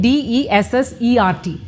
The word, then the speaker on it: dessert: Here, note the spelling D-E-S-S-E-R-T.